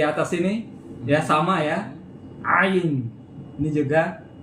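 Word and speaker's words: עין: Jadi sama dengan Arab. Ayin. Ini juga ayin. Nah, gitu. Jadi agak ribet ya. Bunyi tekak. Ayin.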